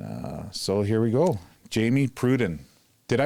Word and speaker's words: Jamie Pruden: for improvisation and uh so here we go Jamie Pruden did I pronounce that right you absolutely did love it